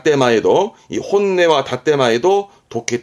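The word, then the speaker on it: 本音: 말할 때 쓰는 단어인데 발음은 혼내 혼네 반말도 많이 씁니다 반대말은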